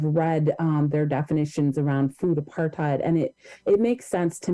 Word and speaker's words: apartheid: the correct pronunciation was apartheid, and that the root of hate in apartheid.